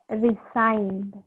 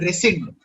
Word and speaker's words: rescind: Resigned. This one? Yes, sir. It's called rescind. Okay? Rescind. Okay. It's pronounced as rescind, and it means cancel or reject.